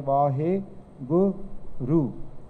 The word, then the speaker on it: Vaheguru: Okay, so Vaheguru, there's 4 akhar. Vavva, Kanna, Va, Haha, Hainu Sari, Vaheguru.